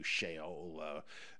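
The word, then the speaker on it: Sheol: his uh going down the shot uh to shaol in ignominy with the that's how you say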